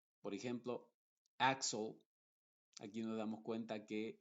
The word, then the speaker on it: Axel: una x original y cuando una x tiene una consonante Después de ella se va a pronunciar con su sonido original por ejemplo Axel aquí nos damos cuenta